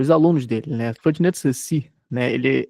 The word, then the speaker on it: Saussure: Ferdinand de Saussure, né? Ele é um nome francês. E a pronúncia, uma das primeiras coisas que todo aluno de letras tem que aprender no começo é a pronúncia.